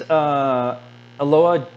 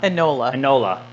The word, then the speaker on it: Enola: These Ilona Holmes, no. Enola. I knew I was saying it wrong.